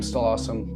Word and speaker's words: stal̕əw̓asəm: That's why there's an English pronunciation of it. Over time, the name Stall Awesome will seem less daunting,